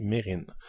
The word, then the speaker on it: Mesrine: sur le célèbre hypermédiatisé gangster jacques mesrine prononcé mérine si le premier opus